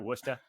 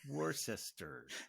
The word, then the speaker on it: Worcester: go uh but uh usually when i used to get the bus at port authority you know the girl behind the counter or the guy would be like uh where do you want to go warchief sister war sister it's spelled warcester like